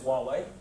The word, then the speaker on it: Huawei: and honor and that's the right way of pronouncing while we're actually so it is Huawei uh so I mean with Huawei the business